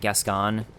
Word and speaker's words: Gascoigne: Uh, speaking of pronunciations too, I double checked and I was correct that Gascon is the name of this guy up here. That's how you pronounce it.